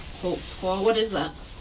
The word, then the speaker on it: Holtzclaw: I'll let your name there cuz I don't even know how to spell it. I can How do you say your name? Daniel Holtzclaw. Holtzclaw.